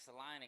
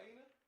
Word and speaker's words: Salina: Salina? It's in the middle of Kansas. But it's called, you would say Salina, but I learned while I was there it's called Salina.